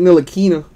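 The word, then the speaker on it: Ntilikina: couldn't appreciate so 99 Frank no latina the T is silent for the Knicks let's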